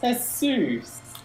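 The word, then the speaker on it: Jesús: But in his case, it's pronounced Jesus. Oh, yeah. Because it's Spanish.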